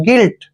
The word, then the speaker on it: guilt: देखिए यहाँ पर जी हमें यू जो है साइलेंट रहता है, जी के बाद जब भी यू आता है तो हमेशा साइलेंट होगा। जी को हम ग पढ़ते हैं और आई को ई की मात्रा पढ़ेंगे, एल को ले और टी को टे पढ़ते हैं।